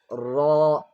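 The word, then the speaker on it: ر: And the outlet of ra is the tip of the tongue lightly touches the roof of the front mouth, the upper front mouth. Ra, ra. The tip of the tongue touches the roof of the mouth.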